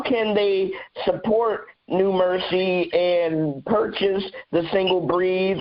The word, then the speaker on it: NuMerC: also on facebook on the new mercy which is spelled n-u-m-e-r-c new mercy gospel uh you can